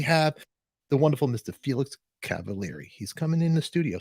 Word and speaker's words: Cavaliere: How do you say Cavaliere?